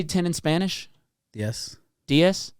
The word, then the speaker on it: diez: Diez.